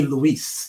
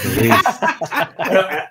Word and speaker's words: Louis: He called me Luis, the French pronunciation. Luis.